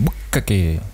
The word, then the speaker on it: bukkake: À part qu'il y a deux cas, du coup je le prononce mal, mais normalement c'est bukkake.